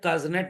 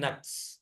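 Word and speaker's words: Kuznets: नाम है साइमन कसनेट अब भया कज नेट नहीं बोलते हैं इनको बोलेंगे आप साइमन नक्स समझ में आ गया यह कज क्या है यह साइलेंट है सो रहे थे रशियन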